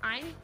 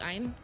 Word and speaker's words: Ein: Ein, the corgi, Ein, is it Ein? I think you say it like Ein, like Einstein, Ein.